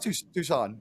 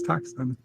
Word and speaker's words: Tucson: sabotage this was 100 I had never heard it pronounced correctly and I thought it was toxin oh yeah I'm just um